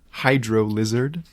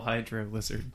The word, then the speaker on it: Hydro Lizard: Rotlord or Twitter at Hydro Lizard. Hail Hydro Lizard. It's actually pronounced Hydrolizard, but it's a character on the podcast I did.